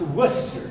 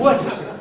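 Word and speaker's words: Wooster: That's pronounced Worcester. Huh? Worcester.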